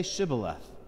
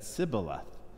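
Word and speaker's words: shibboleth: said no they said to him then say shiboleth and he said sybileth for he could not pronounce it right then they seized him and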